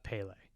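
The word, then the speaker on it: Pelle: And then Wilhelm Blomgren was Pell. I probably butchered that name, but Pele. is it Pele? Yeah.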